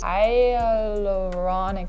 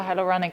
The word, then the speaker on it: hyaluronic: I do use hyaluronic higher I think that A is silent.